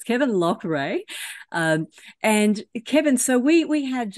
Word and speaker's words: Loughrey: We were actually having a chat before we hit record about how to pronounce Kevin's name. So it's Kevin Loughrey.